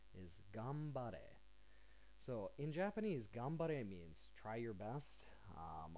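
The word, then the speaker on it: 頑張れ: actually get right I've heard it as uh gameberry uh Gan I've heard it as uh gamre uh Gan um just so many different pronunciations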